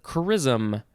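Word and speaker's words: chrisom: so chrisman next is charism so is this this is pronounced the same way as the other chrism but it is spelled c-h-r-i-s-o-m we added an o noun from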